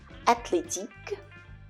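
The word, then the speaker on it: athlétique: on the other hand in French when you have a word that has a th in it the H is always silent so the th combination is pronounced as a regular T always always in words such as mathematic mathematic the age is always silent athletic athletic 10 in theater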